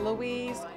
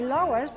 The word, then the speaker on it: Lois: that all the time we get Louise and Lewis and people can't believe that's your name so many people spell it wrong can't pronounce it it's such an easy name but uh you say Lois and they write down Lewis our male comes to or Louise anything but Lois the loises meet the